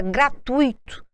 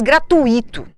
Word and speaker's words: gratuito: Muita gente diz gratuito. Vamos visualizar a palavra gratuito. Se a sílaba tônica estivesse no i, olha bem, ele seria uma vogal. Ele não poderia ficar junto da vogal u. Então eu teria que colocar gratu-i.